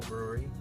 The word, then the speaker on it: Bruery: Local brewery, of course, called the Brewery. But it's spelled Bruery.